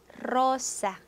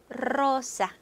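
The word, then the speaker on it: rosa: 로사, 로사.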